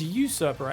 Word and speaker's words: usurper: a nurse a supper you supper is it it's usurper actually I believe there's two different pronunciations for that depending on where you are in the world anyways fourth face is